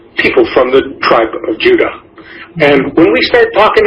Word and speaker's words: Judah: called Benjamin and Judah what properly pronounced Judah because we didn't get the harder sound to the Jay until about two hundred years ago so this is